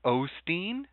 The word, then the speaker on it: Osteen: to try to find how it's actually spelled and pronounced j o e l o L o wait a second if I go oh well it goes Olsson but hold on Joel o Osteen Osteen Osteen Osteen why